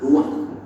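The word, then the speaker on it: רוּחַ: Kata dalam bahasa Ibrani-nya adalah ruah. Ruah? Ya, benar. Tenggorokan kita harus benar-benar bersih di akhir pengucapan.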